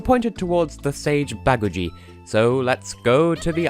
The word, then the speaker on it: Baguji: it towards the stage baggage II so let's go to the island of fact I want to say babuji but it's baggage II seriously listen to them that's what they say dear Lord your custom